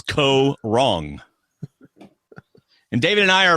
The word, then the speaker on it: Kaôh Rōng: cast has been announced for Survivor season 32 Co wrong and that is how you pronounce it David ko wrong I'll be letting you pronounce it all season long and I'm not wrong it's Co wrong and David and I are about to look